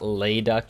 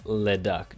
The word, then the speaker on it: Leduck: Then I think you said it's not Layduck, it's Leduck, just short on the Le.